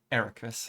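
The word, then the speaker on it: Eraqus: Ericus.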